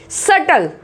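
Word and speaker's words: subtle: सटल, सटल, इस तरीके से बी यहाँ पे साइलेंट है।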